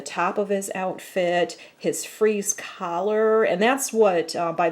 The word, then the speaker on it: Fries: alternate name like maybe spelled like the word fries fr IES but pronounced freeze and but in Gotham